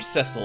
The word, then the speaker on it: Cecil: a huge surprise that Cecil are sessile I believe is technically the pronunciation well he just turns